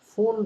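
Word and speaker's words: Pfund: এটাই লাস্ট, সেটা হলো ফুন বলে, ফুন সিরিজ। ফুন বানামটা এফইউএনডি না, পি লিখতে হয় সামনে একটা, পি ফুল আসলে, তো উচ্চারণটা ফুল হবে কিন্তু পি এর সামনে একটা দিতে হবে আর কি, উচ্চতাকে।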